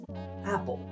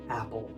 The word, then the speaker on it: apple: Of course, this word is apple. But have you ever thought why is it pronounced apple?